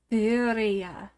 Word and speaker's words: birria: We are looking at how to pronounce birria. Oh my god, birria. no. It would be said birria.